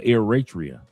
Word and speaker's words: Eritrea: He said he's pronounced Ratria or Eratria.